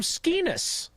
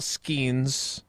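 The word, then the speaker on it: Skenes: Tausch always calls him Skeenus. I did. Which rhymes with something else.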